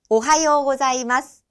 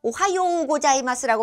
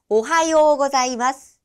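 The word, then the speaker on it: おはようございます: 오하요우라고 써 있는데 오하요우 고자이마스라고 발음하시면 안 되고요. 자, 요음 뒤에 우음이 올 경우에는 우라는 음절이 올 경우에는 앞에 있는 요음을 길게 장음으로 발음합니다. 그래서 오하요 고자이마스, 오하요 고자이마스 라고 발음이 되는 거죠.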